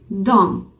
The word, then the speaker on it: de: सो डी या ई, D-E, जब हम बात करते हैं we pronounce it like a dom, dom, that means they in English, वो, वे in Hindi.